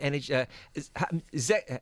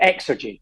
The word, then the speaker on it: Xergy: James McCallum, the co-founder and CEO of Energy. I've got it right. How do you pronounce it? Xergy? No, great. So you pronounce the X strong. Xergy.